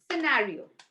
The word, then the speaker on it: scenario: where c is silent whenever c comes after s it becomes silent when c comes after s for example muscle muscle right and also scissor seen fascinate i'll just give you one more scenario okay these are the